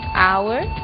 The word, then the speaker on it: hour: O som do H. Pronunciado desde a garganta, como em hotel, e mudo em 3 casos: hour, honest, honor.